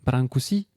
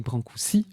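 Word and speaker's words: Brâncuși: On parlait tout à l'heure de Constantine Brankousi parce qu'on dit brankoui. Le S se prononce S hein comme dit Éric.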